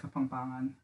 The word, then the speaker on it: Kapampangan: like Kapampangan.